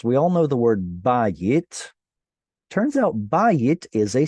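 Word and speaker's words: בית: We all know the word bayit. Turns out bayit is a segolate. Think about it. It's a 2-syllable noun with penultimate stress.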